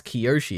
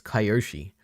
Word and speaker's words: Kyoshi: seen Avatar cuz how why would you pronounce Kyoshi as kayoshi is there a chance is there a chance is like just a narrative for a script or something no way right or is that like just another way of pronouncing Kyoshi I don't know kind of entitlement or do they say Koshi in the show and I'm just crazy